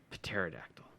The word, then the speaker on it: pterodactyl: cheetor pterodactyl yeah pterodactyl the p is silent pterodactyl shut the [ __